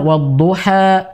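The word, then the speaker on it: والضحى: Wadduha, kan gitu harusnya kosong. Wal laili idza saja. Jadi berhentinya itu di udara. Ma wadda'aka. Jadi wa ma qala la, begitu. Walal akhiratu khairul laka minal ula la. Ya, sebagian ada orang baca wadduha wal laili idza saja. Jadi ada e-nya. Ya, ini juga harus dibetulkan.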